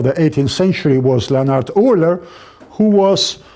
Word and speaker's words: Euler: you know, and Leonhard Euler. Yeah, not Euler, Euler. In English you say like that. That's the German pronunciation. Well, that's the German pronunciation, of course.